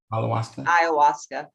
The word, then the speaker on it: ayahuasca: Am I pronouncing that? Ayahuasca.